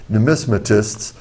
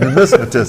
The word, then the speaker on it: numismatist: And there's another publication that's probably the premier publication for numismatists. And as John Say said, that again? numismatist. Numismatist. Numismatist, you got to put it on Coin the collector. second syllable.